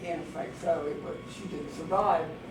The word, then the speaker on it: Anne Frank: One of my pet peeves is actually her mispronunciation as Anne Frank rather than the German pronunciation Anne Frank, because there's a whole